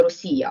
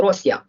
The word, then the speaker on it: Росія: свою слабкість суних тобто Звідки взялася назва Рося з наголосом на першому складі Я думаю що ви напевно пам'ятаєте старше покоління особливо на заході України яке Ніко ли не наголошували назву цієї держави Росія а завжди наголошувало Росія що поїхав до Росії